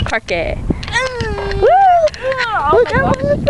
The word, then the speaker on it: parque: This is the park. El park. No, that's not how you say it. It's parque.